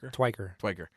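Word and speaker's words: Tykwer: Twiker. How do you say it? Twiker.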